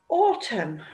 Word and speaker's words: autumn: Okay, now then, autumn. Now, when we say the word autumn in English, we pronounce the letter M, but the letter N is silent. Autumn. We can't hear that final letter N.